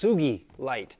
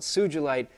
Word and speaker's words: sugilite: will tell you that it's pronounced tsuki light because it's named after a Japanese guy not the founder of